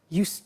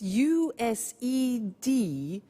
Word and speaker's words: used to: have now we use used to look at the spelling s it's it's u-s-e-d and then t o but the pronunciation is not used it's used unusual used okay so the example is